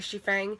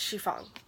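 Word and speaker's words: Xifeng: yeah I found out I kept calling the main character she thing I found out is she Fong just say I'm really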